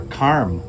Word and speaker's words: karma: dharma for dharma, or karm for karma, or yog for yoga, or asan for asana. A little bit of interesting knowledge: when you're actually speaking, when we speak Hindi or Sanskrit, we don't actually pronounce the A.